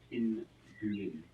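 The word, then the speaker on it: pinguim: Well, Andrew says in Brazil they pronounce it pinguin.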